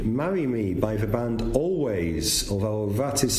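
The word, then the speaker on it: Alvvays: So that was Archie, Marry Me by the band Always, although that is spelt Always, A-L-V-V-A-Y-S, but pronounced Always.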